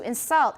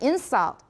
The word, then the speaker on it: insult: to finish variations and stress are used in english to distinguish between a noun and verb as in an insult versus to insult everybody know that you may need to give examples an insult just versus to insult